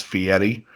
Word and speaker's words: Fieri: name correctly cuz guide correct someone how to pronounce it it's fee Eddie I can he goes